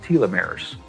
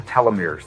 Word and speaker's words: telomeres: of DNA that are called telomeres or telomeres they're pronounced both ways they become riddle as